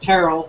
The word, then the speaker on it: Terrell: It is pronounced Terrell, so he had it right the first time there.